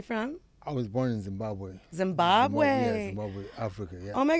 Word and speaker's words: Zimbabwe: No, Zimbabwe is it's called the House of Stones by Zimbabwe. That's what it's pronounced.